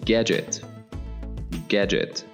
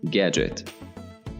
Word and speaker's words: gadget: For example, device, or gadget. The D is silent, gadget.